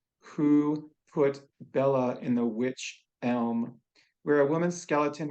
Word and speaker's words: Wych: To our viewers, the tree is spelled Wych, but the magic of homophones gets me to your poem Witch, Witch.